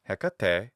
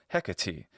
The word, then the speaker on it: Hecate: That final long e normally becomes an E sound. So Hecate becomes Hecate.